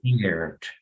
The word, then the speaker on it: cared: Pero la E no la pronuncio. No se pronuncia la E. How would we pronounce it then? Car. Carried. Cared.